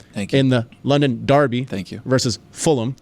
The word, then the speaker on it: Fulham: the London Derby versus Fulham which is how you say it not fullam yeah we're going to take